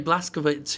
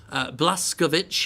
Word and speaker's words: Blazkowicz: Blazkowicz himself, sorry, I pronounced that completely wrong, Blazkowicz himself, that he just seems a lot more frail than before, and I'm not sure quite what it is.